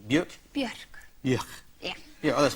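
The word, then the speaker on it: Björk: Is that, am I pronouncing it correctly? Bjork? Bjork.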